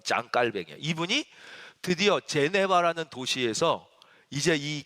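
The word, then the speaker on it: Jean Calvin: 장 깔뱅이라는 분이 있어요 우리는 존 칼빈 이렇게 많이 알고 계시죠 근데 원래이 사람이 프랑스 사람이에요 그니까 불어 발음으로 하면 짱 칼뱅이 이분이 드디어 제네바는 도시에서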